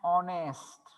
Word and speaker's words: honest: पण here also same की इथं आपण honest नाही म्हणायचं, ह चा उच्चार no, h is silent here.